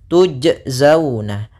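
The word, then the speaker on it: تُجْزَوْنَ: Maka huruf qalqalah ini tidak boleh ada tambahan hamzah ketika melafalkannya. Jangan dibaca tujzauna tuj. Ah ini ada tambahan hamzah. Akan tetapi dia tidak boleh tambahan hamzah sehingga mengalir saja. tujzauna tuj tuj bukan tuj ya tapi tujzauna kemudian pada lafal zau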